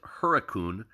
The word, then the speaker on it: Hurricane: Later pronounced locally as Huracun uh, in homage to early live poodle settlers.